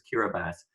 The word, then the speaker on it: Kiribati: told that the the people who live there pronounce it as Kira bass they're former president anote a Tong has talked about something called migration with dignity now Kira bass is a low-lying Pacific at all state where